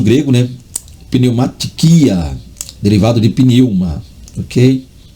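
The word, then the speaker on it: πνεῦμα: E não pneumatiquia, que vem aí do grego pneuma, ou pneuma, como alguns leem, há quem pronuncie do jeito que lê, pneuma, mas é pneuma.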